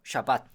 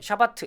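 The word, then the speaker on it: שבת: 샤밧. 자, 샤밧인데 이거 그냥 한글 발음으로 샤밧이라고 그냥 발음하는 분들도 계시고요. 그냥 이렇게 샤밧 이런 분도 계시고요. 아니면 뒤에 있는 자음 타브를 그냥 읽어서 샤바트 이렇게 발음하는 분도 계십니다.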